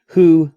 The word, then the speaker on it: who: Oh, I forgot to say, of course, who is a bit special. We learned who when we learned H intermediate, but who, although it has a wh, it's actually an h sound. So, it's a little different. So, be careful with that one. It can be a W sound, it can be a H sound.